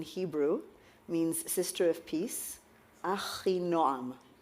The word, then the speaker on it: Achinoam: I've completely mispronounced that, haven't I? That's right. Which is why you call yourself Noah. So correct me, how do I... This is going to be a nice way to start our session, right? My name is Achinoam.